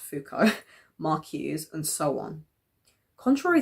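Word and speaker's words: Foucault: theory developed by thinkers like Adono for actually pronounced fuko maruse and so on.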